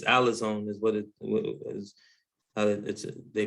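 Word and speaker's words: ἀλαζών: It's alazone is what it is. They pronounce it as, it's a vagabond is the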